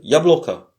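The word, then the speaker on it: яблоко: L'accent est sur le O qui est au milieu, donc bloca. Le O qui est à la fin se prononce comme un A faible. Ya bloca.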